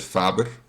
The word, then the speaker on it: Faber: called and and your your last name is actually uh it's you pronounce it Faber in Dutch and um I think